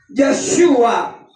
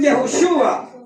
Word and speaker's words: Yahshua: ¿Y cómo se dice este nombre? Ya, ¿verdad? Yahshua. Hoy modernamente le dicen Yahushua, porque los judíos no